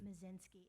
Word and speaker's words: Moszynski: Mazinski. It's spelled Moszynski. We live at 543 Morganza Road.